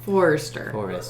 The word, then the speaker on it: Forester: Forester. Like the car.